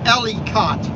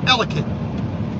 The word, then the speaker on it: Ellicott: from ellicott city because they would say ellie cot they would try to pronounce every letter ellicott no it's ellicott you got to cram it all together you got to slur it all together that's how you know you're local and i